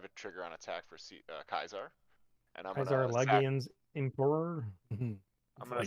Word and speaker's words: Caesar: you know fun fact there is no s sound in Latin so all C's are pronounced as K's good to know also